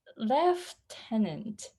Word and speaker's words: lieutenant: one looks really interesting in british english it has f in it how strange yes it's lieutenant left left tenant worse left tenant exactly on the right then